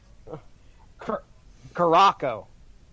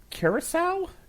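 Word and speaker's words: Curaçao: let's try this one oh one of those is silent okay here we go why is there a bat signal in there karako curacao is that what you're trying to say and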